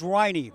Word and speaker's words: Riney: But tension created by pronunciations or It is Riney, Mason Riney. I confirmed that with Larry Bumpus.